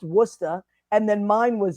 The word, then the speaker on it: Worcester: Our It's pronounced Worcester.